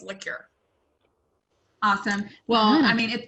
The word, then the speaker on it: Lecuyer: want to say look am i butchering that you know what it's very close it's liqueur just like the alcohol like an alcoholic drink like like an after